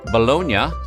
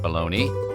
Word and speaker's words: Bologna: Meats come in loaves ask for Balon in Italy and the Italians will winse at your pronunciation and then point to a spot on the map in the north central part of the country in Italy bolognia not pronounced balone is primarily a city